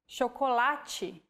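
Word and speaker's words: chocolate: or like this sintu when paired with age forming the digraph ch we have the sound chokolachi so as you can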